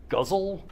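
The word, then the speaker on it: ghazal: and I think probably the GH is supposed to be kind of a like a somewhere between a g and an H figure that out um so the huzzle is or guzzle is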